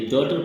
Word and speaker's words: daughter: इस प्रकार बच्चों अगला वर्ड है GH, जिसमें GH साइलेंट रहता है और वो शब्द है डॉटर, DAUGHTER। ये डॉटर पढ़ा जाता है और डॉटर का मतलब बेटी होता है। इसमें GH का उच्चारण नहीं आता है।